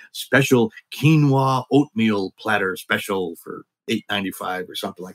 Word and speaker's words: quinoa: Also, it's kind of controversial too because quinoa can be sometimes said as quinoa, which is wrong.